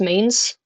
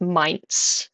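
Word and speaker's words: Mainz: Um, my last name is Mains and that sounds English but unangllicized. It's mines. M A I N Z.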